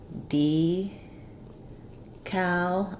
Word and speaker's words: decal: in the US um we say this with first syllable stress D Cal and then the second syllable the letter A says the a sound um I do have